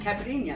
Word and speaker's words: caipirinha: Caipirinha.